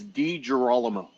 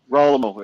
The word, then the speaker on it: Degirolamo: It's Degirolamo. Degirolamo. Yeah. That's not hard to say. Degirolamo. No. Yeah. Degirolamo, right? Girolamo. Yeah. Good old Italian name there. Girolamo. Girolamo. Right? Roll the R.